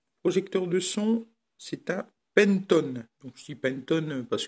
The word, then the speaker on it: Penton: de son, c'est un Pentone. Donc je dis Pentone parce que bon, à mon avis, comme c'est anglais, ça se prononce à l'anglaise. Puis ça fait un peu mieux que Panton.